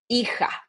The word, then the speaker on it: hija: If I want to say son, I will say, and remember the pronunciation for the H, we never pronounce the H if it's at the beginning. So we say hijo, hija, hijo, hija.